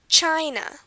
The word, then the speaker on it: China: country we have here China China again it's at the beginning China next word demand not